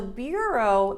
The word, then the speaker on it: bureau: So bureau, the spelling is kind of weird, so just focus on the pronunciation. Bureau, right? Like it doesn't sound anything like the spelling.